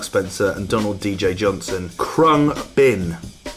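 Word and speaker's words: Khruangbin: and Donald DJ Johnson crumb bin it's how you pronounce it there they move they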